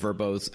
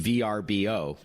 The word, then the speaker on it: VRBO: rebranding if I'm not mistaken verbo was once pronounced VRBO yeah that's right so we recently changed both branding the logo of verbo and the pronunciation as you said it used